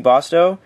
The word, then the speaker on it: Bosto: thank you Jeff and thank you bosto that's how you pronounce it um this has been